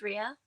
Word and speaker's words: Rhea: My name's Rhea. Rhea. Can you spell that?